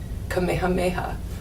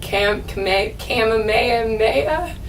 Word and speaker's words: Kamehameha: it's kahohe and um the highway that goes around the island is Kamehameha but my parents were like Camp Kamehameha and then there's you